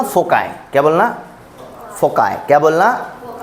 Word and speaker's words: foci: कभी शब्द सुना होगा फोकाई, कभी कभी FOCI होता है। कई लोग तो इसको प्रोनाउंशिएट करते हैं फोकी, फोकाई, फोसी। नहीं, इसको बोलना फोकाई।